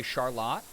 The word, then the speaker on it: Charlotte: We have a suburb here called, spelled like Charlotte, that we say Charlotte.